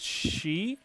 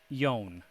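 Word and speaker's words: 四: this case kyoyo wolfie this four right here is not pronounced she it's pronounced yon so they switch the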